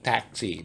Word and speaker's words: taxi: Semua sudah tahu, bacanya bukan taksi tapi taxi. Bahasa Indonesianya taksi ya, tapi kalau bahasa Inggrisnya bacanya taxi.